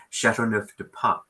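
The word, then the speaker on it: Châteauneuf-du-Pape: Chateauneuf-de-Pape. That was great. It was so smooth. Okay, with my exotic No, foreign please tell accent, me how to pronounce it, I guess. Chateauneuf-de-Pape.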